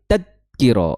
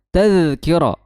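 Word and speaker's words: تذكرة: Jadi bukan anit tadkiro tapi anit taz. Nah itu taz suaranya masih ngalir ya. Tazkiro.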